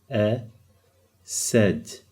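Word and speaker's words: أسد: Now look how I'm pronouncing it. There's a little fatha over here. Ased.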